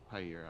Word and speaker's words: Jaire: Jaire, how do you Higher. pronounce it? Jaire Alexander.